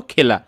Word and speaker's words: খেলা: যেমন এখানে লিখছি আমরা কিন্তু খেলা, কি লিখছি বলতো, খেলা, কিন্তু এখানে শব্দটা উচ্চারণ করতেছি আমরা খেলা।